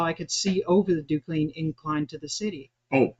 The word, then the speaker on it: Duquesne: How'd you pronounce that? Duquesne. Duquesne.